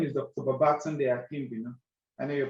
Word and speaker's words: Babatunde: my name yes my correct name is Dr babatunde you know I know you pronounce acquire wrongly and of course um a